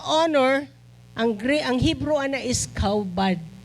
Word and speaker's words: kabad: Ang word sa honor, ang Hebrew ana is kaubad. Or kabad ang spelling niya, K-A-B-A-D, pero pronunciation kaubad.